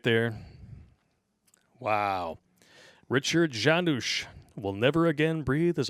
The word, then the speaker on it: Janusz: Richard Janusz will never again breathe as a free man. What is it? What is his last name? Janusz. Janice. Or Janus. I think it's pronounced Janusz. Okay.